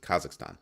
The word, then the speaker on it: Kazakhstan: kazak what is it kazakistan yeah kazakistan kazakstan I'm not quite sure how to pronounce it the spelling throws me off so Kazakhstan that's how you do that's how you pronounce it Kazakhstan so Kazakhstan has issued